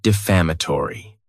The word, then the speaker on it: defamatory: Next is the word defamatory. And this word has 5 syllables. And the stress is on that second syllable.